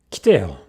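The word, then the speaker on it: 来てよ: Kiteo. Ki. Not ki. Kiteo.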